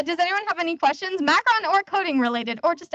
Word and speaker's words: macaron: just so stressful uh macarons are actually a different type of dessert they are coconut based although very delicious macaron is uh how you pronounce this specific dessert and I know multi many people have messed it up so here just